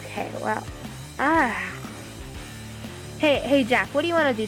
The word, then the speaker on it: Jack: It's not Jake, it's Jack.